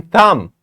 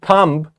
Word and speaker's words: thumb: Once there was a gnome who had a green thumb. Not B. We are not saying thumb, we are saying thumb because B is silent.